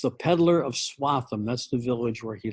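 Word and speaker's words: Swaffham: this you're welcome to retell this story it's pronounced swatham with kind of a th sound in the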